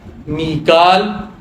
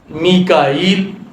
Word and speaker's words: میکائیل: عرض کر دوں کہ حضرت جبریل علیہ السلام کے نام کے کئی تلفظ ہیں اور سارے درست ہیں۔ جبریل، جبرال، جبرائیل، جبرائیل، اور اسی طرح میکال، میکائیل، یہ سب تلفظ درست ہیں۔ یہ مختلف لہجے ہیں